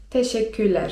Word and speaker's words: teşekkürler: I brzmi: teşekkürler (czyt. teszeküler) teşekkürler (czyt.